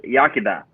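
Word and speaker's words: Iechyd da: Yakida. Is that how you say it? Yakida? Yes. It says it's pronounced. It's sometimes anglicized to Yakida.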